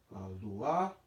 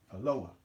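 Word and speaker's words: אלוה: Okay, so now the word that we just formed is, you see it can be luah, or the modern Hebrew would pronounce it as Eloah.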